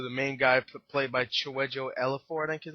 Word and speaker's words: Chiwetel Ejiofor: gonna listen to the main guy played by Chiwetel Ejiofor, I think his name, Ejiofor or some elephant, I don't know, something like that. I know he was in a lot of movies. Chiwetel Ejiofor.